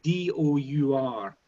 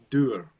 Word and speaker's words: dour: you know the word, it's spelled D-O-U-R, doer, and it's to describe a kind of rainy day, a miserable... In Oklahoma, that's dour. Okay, right, dour.